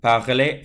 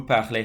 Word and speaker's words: parlez: Vous parlez français. EZ for vous, and it's pronounced A, parler.